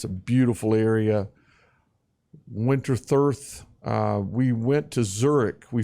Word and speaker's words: Winterthur: I think it's the pronunciation. Yeah, Winterthur, just outside of Zurich in Switzerland.